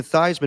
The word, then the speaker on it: Theismann: That's why Joe Theismann changed his name to Theismann changed his name to Theismann to rhyme with Heisman.